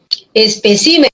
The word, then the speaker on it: especímenes: Igual en espécimen, cuando se pluraliza, para que siga siendo esdrújula, el acento pasa de la sílaba p a la sílaba si.